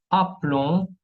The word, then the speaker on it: aplomb: Ahora, la letra B muette, mudas, tenemos plomb, plomb, ¿ok? Plomo, aplomb, está de plomo, y surplomb, ¿ok? Jamás se va a pronunciar la B al final.